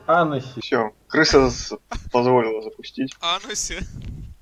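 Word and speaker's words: Hennessey: Кстати, Хеннесси правильно читать Анесси.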